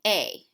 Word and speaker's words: he: it's going to be a H E a you have is going to be us now remember as you pronounce these things the H is silent so a us L